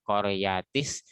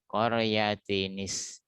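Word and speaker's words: قرية: Sedangkan nun wikoyahnya selalu berharokat kasroh. Qaryatinis ya.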